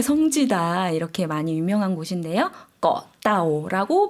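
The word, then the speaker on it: เกาะเต่า: 꺼따오라고 발음해 주시면 되겠습니다.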